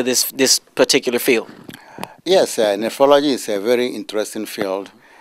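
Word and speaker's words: nephrology: kiwi who deals in how how do you pronounce that nephology nephology nephology which is a speciality that involves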